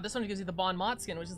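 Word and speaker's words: bon mot: game has for uh Mott is pronounced like Mo most Bon MO Bon MO th sounds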